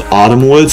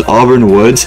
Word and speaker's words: Auburn Woods: in Auburn woods and I actually you know mispronounced it I thought it was Autumn Woods because I mean this is Autumn right here but no it's Auburn woods and this one actually